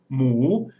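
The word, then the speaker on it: หมู: So it makes a rising tone, mu, and that means pig in Thai. Now, in English, we have pig and pork, and it's really the same in Thai. So mu is pig, and nua mu is pork.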